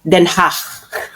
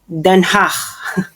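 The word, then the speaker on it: Den Haag: Ang pronunciation non ay Denhach. Okay, repeat after me. Then ha hindi ke so imagine niyo kayo ay nagge-expell ng plema in a very very light way once again. Then hach.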